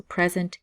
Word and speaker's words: present: meaning is a gift so present gift and the emphasis is on the first syllable okay and if you